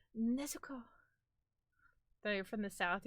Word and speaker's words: Nezuko: Your one coworker came to the back and said Nezuko is ready to go home. It's Nezuko.